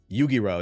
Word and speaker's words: Yu-Gi-Oh: Yu-Gi-Oh. That's how you say it.